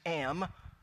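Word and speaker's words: עם: actually do the hebrew for you but it's pronounced am and it's written plural and it means people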